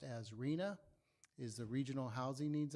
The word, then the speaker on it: RHNA: RHNA, pronounced as RHNA, is the Regional Housing Needs Allocation.